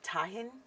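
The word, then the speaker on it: tahini: sorry what okay so I've always pronounced it to Jean because I'm a white uh what did you said tahin yes okay okay which is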